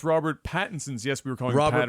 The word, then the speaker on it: Pattinson: First, can you please pronounce Robert Pattinson's? Yes, we were calling Robert him Patterson.